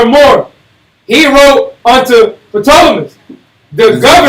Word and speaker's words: Ptolemaeus: He wrote unto Ptolemy, the governor. Just say Ptolemaeus. That P is silent.